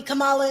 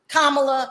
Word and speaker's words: Kamala: first of all does it matter what nationality Kamala is kamla I keep saying the name wrong does it matter black Indian it does